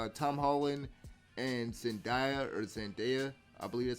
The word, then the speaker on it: Zendaya: this movie, I will say, Tom Holland and Zendaya, I believe that's how you pronounce her name, they have great chemistry and everything like that.